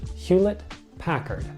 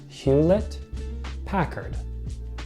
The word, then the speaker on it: Hewlett Packard: a little bit of a tongue twister it's pronounced Hewlett Packard Hewlett Packard Hewlett Packard Hewlett Packard or also for short